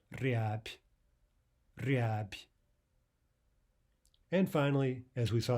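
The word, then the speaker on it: рябь: We have a final soft b, but we'll pronounce it as a p, instead of riab. We'll say riab.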